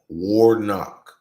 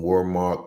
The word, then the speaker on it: Warnock: Warnock. Not Warmark, Warnock. I said it wrong first.